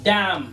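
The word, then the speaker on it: damn: देखो डैम। डैम word के अंदर एन साइलेंट। क्यों? क्योंकि एम के बाद आया हुआ है।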